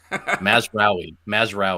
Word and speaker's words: Mazraoui: Mazraoui.